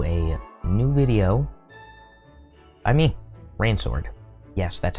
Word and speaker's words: Rainsword: Welcome back, or welcome to a new video by me, Rainsword. Yes, that's how you pronounce it.